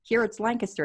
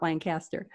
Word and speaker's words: Lancaster: I also do, though, try to make notes of any place name pronunciations, like Paoli or Schuylkill, or that it's Lancaster, it's not Lancaster.